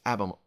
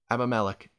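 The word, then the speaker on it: Abimelech: why polygamy is so bad here is his abam I I pronounced it correctly one time abame Malik he now is coming forward and going to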